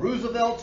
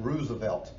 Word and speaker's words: Roosevelt: own people is called Roosevelt's Rough Riders okay and and by the way he did pronounce his name Roosevelt his cousin Franklin pronounced it Roosevelt but but he would have been Teddy Roosevelt so Roosevelt's Rough Riders